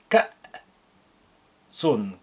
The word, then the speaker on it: كأس: Note how I pronounce the hamza with sukun as like a glottal stop. كأس كأس.